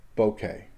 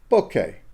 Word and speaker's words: bokeh: the correct pronunciation of bouquet okay bouquet boas and bow as in bow tie keh keh as in kenneth okay here's another way